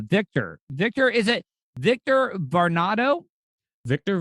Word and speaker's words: Varnado: up but uh victor victor is it victor varnado victor varnado that's great okay see i i i always